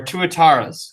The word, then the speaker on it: tuatara: least like known are tuataras okay everybody everybody say this with me tuatara who's seen moana and it's like a name from moana it comes from myori language uh which is similar